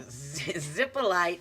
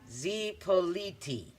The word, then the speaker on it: Zipolite: Zippolite is pronounced Zipoliti.